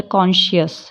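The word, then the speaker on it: conscious: जैसे कॉन्शियस, इसमें जो सी है बीच वाला वो साइलेंट रहेगा।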